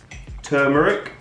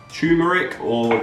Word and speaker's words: turmeric: spices but the tablespoon of turmeric or tumeric tumeric as some Americans say tablespoon of cinnamon buy